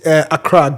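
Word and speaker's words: Accra: the capital of Ghana Akra Ghana Acra Acra Nana yes it's Acra G greater Acra greater arra Acra Nana that's how it is pronounced no Acra Ghana Acra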